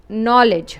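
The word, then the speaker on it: knowledge: नॉलेज two syllable word first part में you have letter pair के एन जिसमें के साइलेंट है then you have O W exception O डब्ल्यू की औ साउंड नहीं है। We have short O sound औ सो न ओ knoll then you have as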